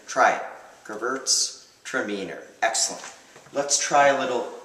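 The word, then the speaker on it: Gewürztraminer: equate wine to dogs is gerbert stromer seems unpronounceable but it's actually not so bad gerbert's tremendous try it gervert's tremendous excellent let's try a little yugel gerbert's demeter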